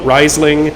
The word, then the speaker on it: Riesling: riesling is considered accurate however germans call it riseling and they invented the grape so honestly you can say whatever you want i would say nobody's right but literally the germans are right and we are wrong but we we do